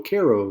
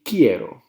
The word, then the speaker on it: quiero: pronunciation of this word a lot of people look at it and they go cairo or quiero or it should be quiero okay i have a